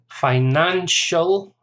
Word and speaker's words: financial: Financial, 3 syllables, stress on the second.